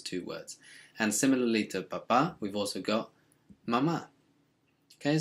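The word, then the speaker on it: papá: as me baladi um be careful with papa make sure you kind of accentuate the last syllable because if you say papa it means potato now like i said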